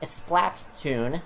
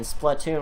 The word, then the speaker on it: Splatoon: the official pronunciation is flat tuned with an emphasis on the splat rather than splatoon with an emphasis on the platoon not that it really